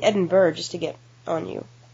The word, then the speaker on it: Edinburgh: No, the pronunciation of Edinburgh, the use of borough is not just Scottish, it's British English. So, I'm just going to start saying Edinburgh just to get on you.